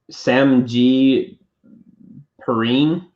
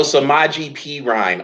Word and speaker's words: Samaje Perine: I don't know how to pronounce his name, but it's like Sam G. Perrine. Oh, Samaje Perine, Oklahoma. Yeah, that guy.